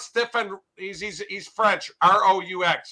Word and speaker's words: Roux: R-O-U-X. How do you pronounce his last name? Roux. Is it pronounced Roux? Roux.